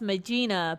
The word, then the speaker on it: Magina: Now, that could be pronounced Magina, but I've always called him Magina.